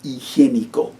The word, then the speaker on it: higiénico: Toilet paper, se dice el papel higiénico.